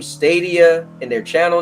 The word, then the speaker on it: Stadia: Yeah, Stadia.